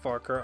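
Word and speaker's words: Farquhar: Anyway, so we gotta go to the next checkpoint down the Farker branch, and it is pronounced Farker. I will. That's how it's pronounced in the books.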